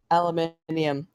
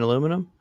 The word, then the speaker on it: aluminium: do you pronounce that that metal what metal aluminium I can't pronounce it aluminium aluminium yep lead no aluminium